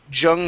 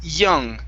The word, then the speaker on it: young: okay so give me a good y sound instead of jung lady it's young young lady one more